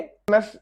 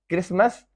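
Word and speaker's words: Christmas: Whistle, T silent है। क्रिसमस जो 25 दिसंबर को होता है, date of birth of the Holi क्राइस्ट, क्रिसमस।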